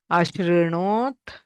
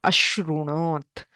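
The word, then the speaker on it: अशृणोत्: Ashrinot, not ashrunot. It is not the original form of the dhatu. It gets a modified form, shru. Kutra iti chet sarvadhatuka lakareshu. So shrunoti, ashrinot, shrunotu, shrunuyat.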